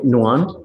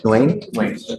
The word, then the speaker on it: Nguyen: Is it Nguyen? Nguyen? Nguyen? 1A. The N is silent.